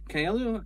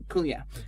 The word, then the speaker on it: Kaluuya: But of particular note is obviously Viola Davis in the lead role, but absolutely everybody else, including is it Daniel Kalu? How do you pronounce his surname? Kaluuya.